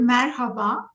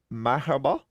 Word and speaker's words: merhaba: some of you have already heard that word merhaba maribel means hello all right so hello can you can you pronounce it one more time for us my hobo that's correct for a pronunciation perfect oh wow